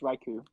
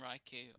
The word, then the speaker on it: Raikou: or raikou or icao it's raikou okay i'm not i'm not hearing anything oh i'm i'm kind of it is reiki we've been saying raiku i'm pretty sure you've